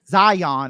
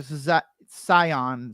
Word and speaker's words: Zion: it who understands Hebrew the word they're going to use is kind of between a z and an S it's not okay Zion it's more Sion s like I'm not